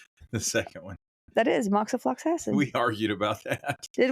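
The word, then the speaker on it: moxifloxacin: Uh, the fourmonth rifipopentin moxiflaxin regimen includes um, the way you pronounced the second one. That is moxofluxassin.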